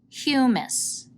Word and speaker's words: humus: Say it with me, humus. It's spelled H-U-M-U-S, which looks like hummus, but that's a delicious Mediterranean dip.